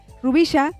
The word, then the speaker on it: Rubixa: ¿Cómo se dice la X aquí se pronuncia CH? Rubisha Cortés.